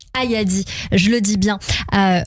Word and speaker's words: Ayadi: Cette pièce était quand même jouée, j'ai envie de dire, avec Camille Cotin et d'autres acteurs, dont Naïdra Ayadri, je vais bien le prononcer. Ayadi, je le dis bien, a obtenu donc le Globe de Cristal de la meilleure actrice.